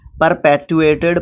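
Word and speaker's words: perpetuated: परपेटुएड, टुएड नहीं, टुएट, परपेटुएटेड, परपेटुएटेड जो इसका सेकंड एंड थर्ड फॉर्म है।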